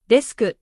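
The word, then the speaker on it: デスク: For example, bus becomes basu, desk becomes desku. The added vowel makes the word pronounceable in Japanese.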